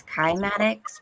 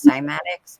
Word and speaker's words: cymatics: It's kymatics because it's Greek, but a lot of people pronounce it as cymatics, but it's called kymatics.